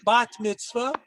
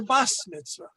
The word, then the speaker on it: bat mitzvah: going to be celebrating her bat mitzvah, or it's an Ashkenazi pronunciation, her bas mitzvah.